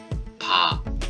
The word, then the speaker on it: 밥: are combined to read 'BA' 'BA'. And if you read the final consonant 'ㅂ' (bi-eup) together, 'BA' becomes 'BAP' 'BAP'. The English spelling of 'BAP' is B-A-P, but it is pronounced as 'B-A-B', so it is a